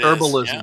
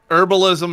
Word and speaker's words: Herbalism: That's so, the H is silent.